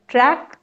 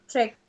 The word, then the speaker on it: trek: track we are on track नहीं trek Trek. the spelling is TREK right Okay. Yes, ma'am. Right. है ना तो Track. उसका pronunciation track नहीं होगा trek होगा trek Track.